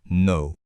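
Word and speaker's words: know: Prenez le mot no. On ne dit surtout pas que no. La bonne prononciation, c'est no. La règle est donc simple. Pour kno, le cas est totalement muet. On ne l'entend pas.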